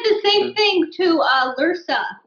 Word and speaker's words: Lursa: He said the same thing to Lursa. He called her Lurser in Generations. And I was like, why did he say it wrong?